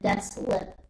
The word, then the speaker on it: Deslip: says he pronounces it Deslip.